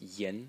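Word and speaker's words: 言: element is this element over here which is pronounced yen and it means words like words of a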